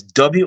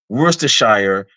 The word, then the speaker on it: Worcester: Like yeah, it's Worcester, and I'm busy saying Worcestershire, and people are looking at me funny. And one person's like, "No, it's Worcester." I'm like, It's "Okay, my Worcester.